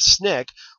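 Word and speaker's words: SNCC: for requirements for voting the Student Nonviolent Coordinating Committee pronounced Snick was a group that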